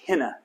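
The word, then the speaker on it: ἵνα: And then the word hina, that. Iota, nu, alpha. It's got a rough breathing, so it has an H sound. That's why you pronounce it hina.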